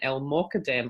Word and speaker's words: El-Mokadem: And my name's Christian McNeil, and tonight I'm delighted to welcome our guest, El-Mokadem. I hope I'm pronouncing that right.